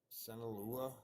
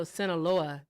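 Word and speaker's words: Sinaloa: That's Soloa. Sinala. No, Soloa. That is a uh state in the um country of Mexico. So they have his name on here.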